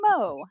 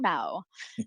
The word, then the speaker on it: Mo: for short please and it's pronounced moe never mao seems to be a